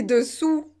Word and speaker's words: dessous: difficile peut-être pour vous vous devez bien prononcer u et pas où une ou d'ong pourquoi c'est important et pourquoi j'insiste sur ça et bien c'est parce qu'il faut faire la différence entre dessus et dessous dessus dessous donc si